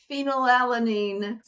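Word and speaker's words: phenylalanine: say it wrong because such a long word phenol alanine phenol alanine there we go wrapped my tongue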